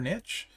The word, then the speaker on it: niche: The trainer, which I didn't talk about, is actually super niche, or niche, depending how you say it.